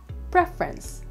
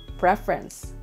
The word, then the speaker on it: preference: you pronounce this word the correct one is preference preference so again meron syllable preference number eleven jin wine